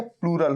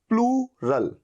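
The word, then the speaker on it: plural: ठीक है, अभी जो नाउन होता है ये या तो सिंगुलर होगा या प्लूरल होगा। इसको बोलेंगे सिंगुलर, और इसकी प्रोनाउंसिएशन सही रखनी है आपको, इसे बोला जाता है प्लूरल।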